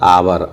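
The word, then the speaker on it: hour: आवर। आवर के बाद क्या आया? ओ जो कि वोवेल है। इसलिए एच का उच्चारण नहीं है।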